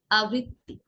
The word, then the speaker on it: আবৃত্তি: তো আবৃত্তির ক্ষেত্রে আমরা আবৃত্তি বলবো না, আবৃত্তিও বলবো না, কি বলবো? আবৃত্তি।